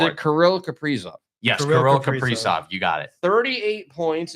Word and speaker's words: Kirill Kaprizov: Yes, Kirill Kaprizov.